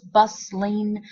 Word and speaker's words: bustling: to break down um some people pronounce it as two syllables busling other people pronounce it